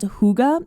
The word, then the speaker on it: hygge: this Nordic principle called hygge. It's a really funny word. It's pronounced hygge, but it's spelled like Hygge or something like that.